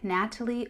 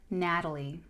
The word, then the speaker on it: Natalee: I go by Natalie or Natalie. That's it. Natalie. Whichever is easier for you to pronounce.